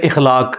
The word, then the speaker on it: اخلاق: مثلا یہ لوگ بول دیتے ہیں اخلاق, اخلاق لفظ نہیں ہے, اخلاق لفظ ہے. تو اگر ہم یہ لفظ یوز کریں گے تو الف کے اوپر زبر ڈالیں گے.